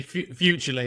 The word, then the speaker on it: Futurely: It's always been a pretty controversial name, but it's supposed to be Futurely.